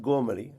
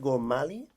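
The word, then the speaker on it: Gormally: direct how does he how does he name himself well I think it's I think it's gorali gorali with with with PR um with a strong a gor Al or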